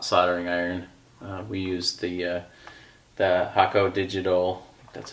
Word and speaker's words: Hakko: We use the Hakko Digital, that's how you say it, the digital irons that work really well in the shop.